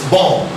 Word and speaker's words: bomb: Look at the second B here. It's not a ba sound.